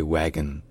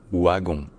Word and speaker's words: wagon: de France parce fait on s'est inspiré du W allemand qui se prononce ve par contre en Belgique c'est devenu wagon wagon pourquoi en fait